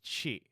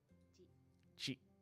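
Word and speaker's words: ち: The first exception is chi, which starts with a C as opposed to a T, and adds a soft H sound.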